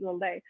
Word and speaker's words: Lillet: Now they don't pronounce the T, Lillet.